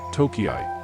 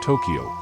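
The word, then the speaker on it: Tōkei: During the early Meiji period, the city was sometimes called Tokiai, an alternative pronunciation for the same characters representing Tokyo, making it a kanji homograph. Some surviving official English documents use the spelling Tokiai, however, this pronunciation is now obsolete.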